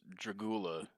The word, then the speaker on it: Dragula: I hate to be that guy, but it is pronounced Dragula and not That's He he says Dragula.